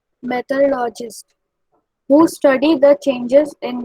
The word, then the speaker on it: meteorologist: सर ये The prediction of weather is done by the scientists called meteorologists who study the changes in weather. Right pronunciation is meteorologist.